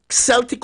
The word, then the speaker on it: Celtic: it's Celtic Sea salt Celtic or Celtic however you want to pronounce it Haman pink salt